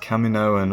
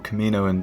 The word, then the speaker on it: Kaminoan: be buying this set, our first Kaminoan, or Kaminoan depending on how you want to pronounce it.